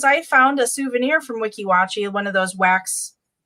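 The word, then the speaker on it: Weeki Wachee: Maybe they went to that Wikiwocki or whatever it is, you know? Wiki watch.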